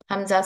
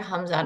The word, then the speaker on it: Hamza: it will be called Hamza, not Alif anymore. For Alif, it has to be blank. So this Hamza should be pronounced with a soft jerk from the bottom of the throat.